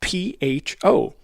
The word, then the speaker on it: pho: The restaurant serves the Vietnamese dish spelled P-H-O, but pronounced pho, and it is in the city of Keene, New Hampshire.